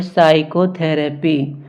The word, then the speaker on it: psychotherapy: इसे हम पढ़ते हैं साइकोथेरेपी। इसमें पी को नहीं पढ़ा जाता है। अगर पी को पढ़ेंगे तो पी साइकोथेरेपी हो जाएगा, लेकिन पी को पढ़ा नहीं जाता है तो ये बोला जाता है साइकोथेरेपी।